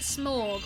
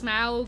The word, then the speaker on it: Smaug: I used to pronounce it Smorg, but my parents say it's Smaug, and I just listen to my parents because, like, I'm sure they're right.